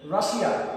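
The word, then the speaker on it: Russia: আচ্ছা মজার ব্যাপার হচ্ছে এই যে শব্দটা বললাম রাশিয়া, যেটা নাউন, এর উচ্চারণ আমরা বাংলা বলি রাশিয়া, কিন্তু ইংরেজিতে এর উচ্চারণ হবে রাশা।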